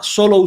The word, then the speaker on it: Solow: modelo que se llama solo s solo sone solo se escribe solow así terminado en W eh SW a n